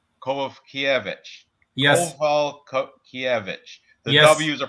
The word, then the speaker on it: Kowalkiewicz: So the W is pronounced with a V. Kowalkiewicz. Kowalkiewicz.